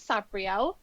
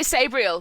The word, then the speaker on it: Sabriel: i've always pronounced it sabriel same i say sabriel because i think i look at it and it go oh it's just like gabriel but with an s right but i'm overruled